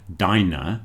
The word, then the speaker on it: diner: Now if you listen to the pronunciation of the letter I in dine, you'll see why the word diner is pronounced diner.